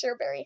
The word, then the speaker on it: Shxrberry: By the way, that's how you pronounce it. I know it's weird, and I know it's not spelled right, but it's Shxrberry. Basically, I have this phase